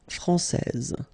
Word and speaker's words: français: main rule, elle est française. Okay, so français, here you get this final S that you don't pronounce, so français, and then when you put this final E here, you will get française.